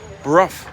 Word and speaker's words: Brough: wrong too you're a bro it's not bro hey it's Bruff ruff ruff is it not rough but master of all